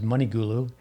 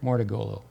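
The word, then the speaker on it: Mouratoglou: with uh patrick mordegulu i've mispronounced the name before as money gulu but uh with who paid jameer jenkins serena or patrick mortagolo you can always say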